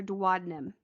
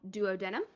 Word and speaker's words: duodenum: to be called your duodenum i have also seen it called duodenum it's pronounced both ways so the section first